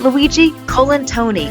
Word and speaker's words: Luigi Colantoni: dananer joining me for this week's show is Luigi colen Tony and I want to make sure that I said his name right Luigi colen Tony Welcome to our show we're thrilled to have